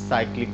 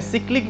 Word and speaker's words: cyclic: आज हम लोग जिस पे बात करेंगे वो है साइक्लिक ग्रुप। जिसका जो प्रोनाउंसिएशन है सिक्लिक भी होता है। जिसे कुछ प्रोफेसर सिक्लिक बोलते हैं।